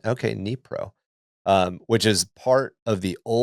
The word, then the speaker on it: Dnipro: I'm sorry, Dnipro. Okay, thank you. The D is silent. Is silent. Okay, Dnipro, which is part of the old Russian Empire in 1831.